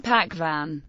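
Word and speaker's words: पकवान: Native Hindi speakers pronounce as V in Vrat and W in Pakvan, perceiving them as a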